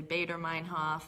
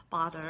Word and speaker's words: Baader-Meinhof: of something called the baader-meinhof syndrome and that is actually how you pronounce it I've heard of people say baader-meinhof but it's bother and it was actually